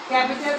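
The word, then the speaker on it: capital: বুঝতে পারছি আমরা তাহলে ক্যাপিটাল ক্যাপিটাল লেটার হবে লেটার হবে আর এটা উচ্চারণ হবে ক্যাপিটেল নট বড় হাতের অক্ষর হাতের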